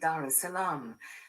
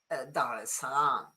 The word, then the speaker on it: Dar es Salaam: largest cities, which is Dar es Salaam. And then you see, is it true or false that the R in this word is silent? Do you know? It is true.